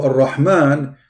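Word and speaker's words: الرحمن: So Ar-Rahman, the letter Ra, it is two R, not one.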